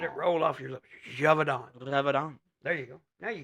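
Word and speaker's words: Gévaudan: me are you pulling that's French say it Javon Javon Javon Javon let it roll off your lip javonon there you go now you got it a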